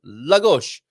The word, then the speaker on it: Lagos: I to judge uh first syllable is emphasized Lagos isn't that what I said